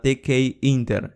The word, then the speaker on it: Tkinter: está the key que se llama the key inter esta sería la pronunciación correcta de hecho no sabía cómo